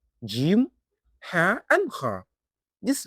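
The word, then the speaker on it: جيم: For Jim, the sound is produced from the middle of the tongue as it rises toward the middle of the roof of the mouth. Keep your mouth relaxed and let the sound come out naturally.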